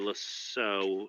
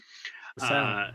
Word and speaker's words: LaSalle: Well, we know that our buddy, Mr. Lasso, I'm already pronouncing it wrong. LaSalle. He had LaSalle.